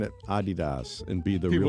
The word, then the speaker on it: Adidas: Adidas. Thank you, Bob. You're supposed to emphasize the first syllable.